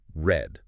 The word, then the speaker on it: R3D: Prepare your sensory processors for R3D, yes, that is pronounced red.